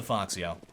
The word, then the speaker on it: Foxio: And by the way, anybody wondering about why I'm pronouncing it that way? I asked him, and he said that's what it was. Named Fox, after one of his favorite characters or something. And then added the yo at the end, and it